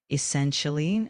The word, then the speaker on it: essentially: Uh the word essentially is pronounced as essentially uh with the emphasis on the second syllable.